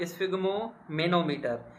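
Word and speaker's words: sphygmomanometer: ये होगा स्फिग्मोमेनोमीटर। स्फिग्मो ये पार्ट हो गया, स्फिग्मो पहला पार्ट, स्फिग्मो दूसरा मेनो, स्फिग्मोमेनोमीटर।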